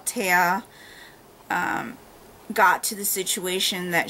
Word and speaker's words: Tea: Also, it wasn't until 60-something percent into the book that we're told that Taya's name is pronounced Taya.